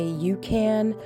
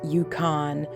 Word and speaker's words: Yukon: Also, in this video, you'll hear me say Ukan. I know it's pronounced Yukon, but I don't know.